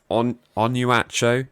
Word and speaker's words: Onuachu: our knowledge uh there's we know it Paul on on you at show is that how you pronounce it yeah yeah you did pretty well